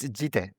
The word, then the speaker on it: Yite: Yite, thank you so much for coming on. Yite, right? Yite, how you pronounce it in English? Yeah, it's Yite.